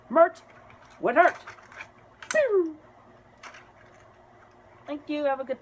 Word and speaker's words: Trump: The P is silent when you say his name backwards. Mert would hurt. Pew.